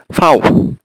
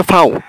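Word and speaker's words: Vau: আর জার্মানিতে ভি, ভি, ভিকে ওরা বলে হচ্ছে ফাউ, ঠিক আছে? আপনি এখানে ভি বললে হবে না, এখানে বলতে হবে ফাউ।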